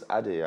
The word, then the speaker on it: Adey: No, it's Adey actually. Adey. Yeah, it's okay. Adey. The Y is not heavy now. Forget, you have to heavy it. It depends on your tongue. The Y is silent.